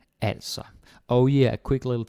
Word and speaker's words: altså: Like if you say also, it sounds Swedish. We're not fucking Swedish. Okay, nothing wrong with Swedes, but you get the point. So it's altså.